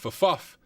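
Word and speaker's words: ffuf: So on this login screen, Big Beef said Fuff is the correct pronunciation.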